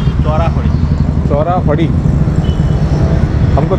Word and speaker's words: chorafali: Just googled तो उसको चोरा फड़ी वर है, that's what he was saying, but actual the spelling was CHORAFALI, चोरा फड़ी, चोरा फड़ी।